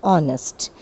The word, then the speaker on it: honest: That is why we use an before the word honest. It is pronounced as honest and O is a vowel sound.